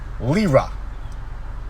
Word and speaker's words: lira: that i can read it i just can't pronounce it it's only four letters lira l-i-r-a lira turkish lila it's the money they